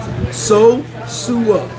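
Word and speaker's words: Sosúa: And say it right. Sosua. Don't say it the wrong way.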